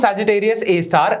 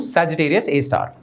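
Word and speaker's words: Sagittarius A*: hole called Sagittarius AAR star means asterisk okay pronounced Sagittarius A star and abbreviate it to Sagittarius A star okay super massive black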